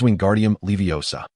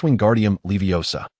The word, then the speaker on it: Wingardium Leviosa: Okay, the incantation is wingardium leviosa. Pay attention to the pronunciation, young wizards. It is wingardium leviosa. Remember that gar must be pronounced long and clear.